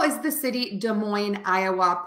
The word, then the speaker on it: Des Moines: um area but again to say Des Moines I would say da uh moin Des Moines and that's how you